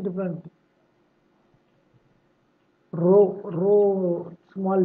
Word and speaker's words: rho: Here not projected in top left and right, then caps, this is small, pi, p, English word, pi, pronunciation different, rho, rho, small p, rho, caps p, for capital letter, uppercase, here r, rho, okay.